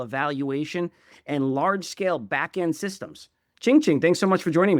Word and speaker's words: Qingqing: I should get the pronunciation of your name correct. Chingchi. Yep. Oh, Ching Ching.